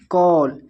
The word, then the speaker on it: call: ए को यानी कि हम कब आउ पढ़ेंगे, जब किसी वर्ड के अंत में ए के बाद डबल एल रहता है तब ए का उच्चारण आउ किया जाता है। एग्जाम्पल देखिए CALL, ए के बाद देखिए डबल एल है तो इसको हम पढ़ेंगे कॉल।